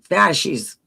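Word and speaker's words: fasces: separation in the, uh, B, how do you pronounce that? Fashies.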